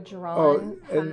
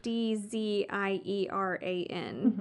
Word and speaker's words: Dzieran: Drago It's like cuz the way this is spelled is not supposed to say Dzieran. That's not what I would have come out of my average Texan accent.